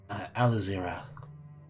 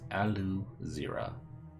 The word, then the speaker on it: Aluzira: Aluzira is what she says. Aluzira. It's spelled as phonetically as it sounds.